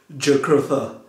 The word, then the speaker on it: Jugurtha: Alright, am I pronouncing it well, Jugurtha? Yeah, it's good. It's Jugurtha.